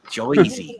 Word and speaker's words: Jersey: Joyzy. You got to say it right. It's Joyzy. Joyzy. Joyzy. Joyzy. Boise, Idaho. Kind of like Boise, but Joyzy. Yeah.